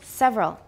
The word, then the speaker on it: several: good all right several we usually say it with how many syllables several how many just two not several several is not wrong but it's it sounds too careful several several component frequencies